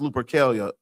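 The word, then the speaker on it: Lupercalia: Look up Lupercelia's pronounced Lupercelia.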